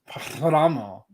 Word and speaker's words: Paramo: Why did you Because roll your R? Because I can. PARAMO. It's like one of you rolled your tongue and then said Thramo with a T. It is what it is.